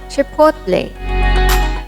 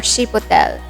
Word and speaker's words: chipotle: Chipotle. It's a dried smoked jalapeno. It's not chipotle or chipotle. The correct pronunciation is chipotle or chipotle.